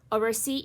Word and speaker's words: oversee: Oversee is another example where the stress is in the last syllable.